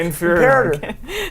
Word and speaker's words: Imperator: It's pronounced Predator. Inferior. Imperator.